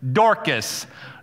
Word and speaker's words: Dorcas: I look it up, the YouTube video pronunciation, Dorcas.